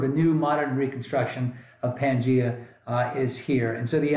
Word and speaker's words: Pangaea: a single supercontinent called Pangaea. Some people pronounce it Pangaea, but we're going to go with Pangaea.